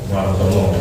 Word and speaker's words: Warsono: Ya, tulisannya kan ditulis Warsono ya. Warsana. Dan itu nama ejaan yang dulu huruf C, T, J menjadi C dan seterusnya. Ada ejaan perubahan waktu itu. Sebenarnya itu O ya, Warsono.